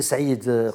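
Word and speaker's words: Saïed: On le prononce, c'est Saïd.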